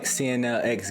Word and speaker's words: CNLX: Alright, welcome back, CNLX Gaming. You already know the vibes where the X is silent.